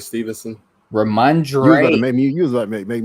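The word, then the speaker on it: Rhamondre: So I would definitely target more Remark and how you pronounce his name? Ramondre Stevenson. Ramondre. You was about to make me say Ramor.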